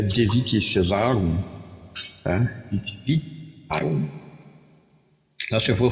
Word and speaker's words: Caesar: Aqui em latim, escreve, né, o Caesar, né, como é o César, né? Mas a pronúncia lá é Caesar.